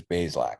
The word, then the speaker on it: Bazelak: So it is Bazelak. It is two syllables.